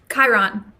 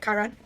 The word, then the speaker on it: Chiron: How do you pronounce this, out of curiosity? Chiron. Okay, that's what I thought. Okay, Chiron.